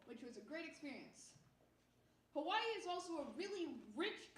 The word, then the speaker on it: Hawaii: So because W's are pronounced V's in the Hawaiian language, Hawaii is supposed to be pronounced Hawaii.